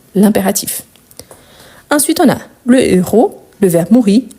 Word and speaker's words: héros: film je vous rappelle héros c'est un hche aspiré on ne peut pas faire ni élision ni liaison donc le héros le verbe mourit à la fin du film donc ici héros on ne fait pas de liaison si vous connaissez pas